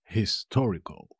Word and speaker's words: histórico: ex nadie te es histórico histórico histórico de un acento en la primera o como lo veis histórico